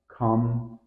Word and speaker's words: comfortable: on the first syllable here's the common error comfortable tip think of it as comfortable where the fort almost disappears comfortable number two mischievous